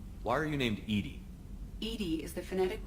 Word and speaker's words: EDI: airlock is ajar why are you named ed ed is the phonetic pronunciation of Ed I that is an acronym